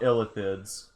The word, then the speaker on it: Illithid: They're actually called Illithids. Sometimes pronounced, but Illithid is the Elvish word for Mind Flayers.